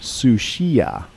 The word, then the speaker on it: Sucia: the north that inspired the Spanish name correctly pronounced sushia meaning foul this is the straight of Georgia